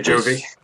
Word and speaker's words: Jovi: me a joke yeah you need to pronounce the the V bit at the end it's important okay Jovi who's